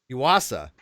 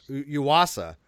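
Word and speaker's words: ousia: I think it's pronounced you wasa although it starts with an O but it's pronounced you wasa and I I don't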